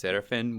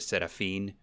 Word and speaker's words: Serafin: people always say it's serifin which is no big deal uh i well let's see i always pronounce it in the spanish way with the seraphine yeah okay so how